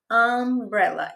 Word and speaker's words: umbrella: umbrella. Esse U é pronunciado de que aí ele é o som de fato da vogal. Não é aquele de universe para ser consoante.